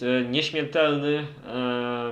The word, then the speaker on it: nieśmiertelny: Guns N' Roses, and the Polish pronunciation is nieśmiertelny, but probably nobody outside of Poland can pronounce this, and red on the replacement.